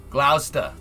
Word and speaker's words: Gloucester: great plains somewhere is wyoming real yes gloucester gloucester that's how you say we say we would